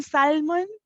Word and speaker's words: salmon: of perplexity um honey there's no l in Salmon it's just salmon for Wicked reply ah